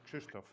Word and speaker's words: Krzysztof: This two letters R and Z are pronounced in Polish as sh which is a bit tricky for foreigners.